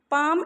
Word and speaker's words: palm: Date palm, DATE, date, PALM, palm, date palm, palm L is silent children.